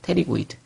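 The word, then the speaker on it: pterygoid: 테리고이드. 여러분 이제 책 보면 이게 P로 시작하는데 묵음입니다. 그래서 이제 테리고이드라고 부릅니다.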